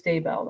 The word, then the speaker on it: Daybell: So it is Daybell then.